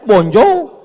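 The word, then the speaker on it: bonjour: Emangnya bahasa Prancis mudah? Tulisannya bonur bacanya bonjou. Bon soir, bonso jangan pelajari bahasa-bahasa orang kafir ini.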